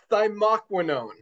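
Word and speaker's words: thymoquinone: But there's one crucial part of it and that is the active ingredient which I thyquinone. I think I pronounced that right. Dr. Ryan said I did it right last night.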